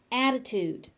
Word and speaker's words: attitude: Attitude. Attitude. So that first t it's it almost sounds like a d because it's just a d sound attitude.